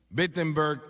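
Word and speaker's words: Wittenberg: Alemania o no perdón empieza con una W pero se pronuncia con una B bettenberg Alemania y clava sus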